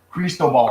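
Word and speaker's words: Cristóbal: Cristobal. Cristobal. Cristobal. Oh yeah, like Crisco. Yeah, Cristo. Yeah, Monte Cristo. Cristo. Cristobal. Cristobal. That's how they pronounce it.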